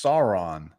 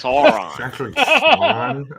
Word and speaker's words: Sauron: how you say whatever sauron man it's sauron like uh like the x-men guy the territory well actually it's pronounced sauron excuse me actually is why you can't take